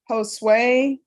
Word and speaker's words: Josue: In custody, we have Mark Vestal, Kendrick Landry, Fabian Cardenas, Josue. How do you pronounce that first name?